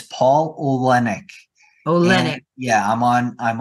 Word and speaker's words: Oleynick: for everybody so that okay the last name is spelled o l e y n i c k and it's Paul olenic Olen yeah I'm on I'm on like I